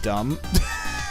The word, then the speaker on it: DMBH: I like DMBH, pronounced dumb.